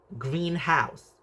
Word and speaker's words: greenhouse: Stress on word green, greenhouse. Stress on the first element shows it is a compound noun.